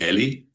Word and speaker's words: Eli: Eli, welcome to the show. How are you? I'm I'm great. I'm fine. But you you pronounced my last name correctly, but my first name is actually Ellie.